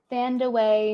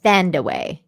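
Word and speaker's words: Thandiwe: Oh, Thandaway Newton. There we go. Thandaway. There you go. You said it right.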